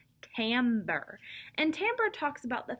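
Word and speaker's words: timbre: it but it is it looks like it says timber but it is timber and timbra talks about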